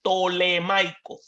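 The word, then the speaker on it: ptolemaico: tolemaico griego tolemaico y se escribe la primera letra es con PT tolemaico Pero como de ptolomeo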